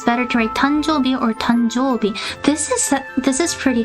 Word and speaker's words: 誕生日: 誕生日. I think I replied on Twitter, but 誕生日 will be the right way of pronouncing it.